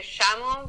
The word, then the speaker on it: llamo: That's kind of like how Mexican people would say it, but we say me llamo because the double L, we pronounce it as a sh sound.